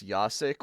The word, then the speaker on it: Jacek: my name it says yasik which is technically correct because that's the way of saying itas the J is pronounced as a y in in Slavic tongue